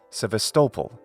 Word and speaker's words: Sevastopol: patterns of English speech I nevertheless recommend placing the accent on the same syllable as in Ukrainian so I call these cities sevastopol mariupal mellitopel and that way they also sound like Constantinople Crimea is also home